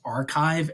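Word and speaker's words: arXiv: called I guess it's sort of pronounce archive a RX I and you can download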